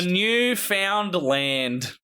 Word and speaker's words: Newfoundland: the chat now tell me if you can pronounce how this is said you found a million guys to go for the newfound land is I know how this is actually dance